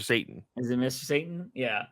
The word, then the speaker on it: Satan: Satan from um yeah is it Satan or satin when they pronounce it in the show though I'm pretty sure it's Mr Satan is it Mr Satan